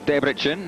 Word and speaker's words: Debrecen: And welcome back to Debrecen, or Debrecen as they pronounce it over here.